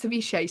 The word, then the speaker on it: ceviche: american dish i don't even know how to pronounce this ceviche okay ceviche yeah yeah it's ceviche so you know what it is already brilliant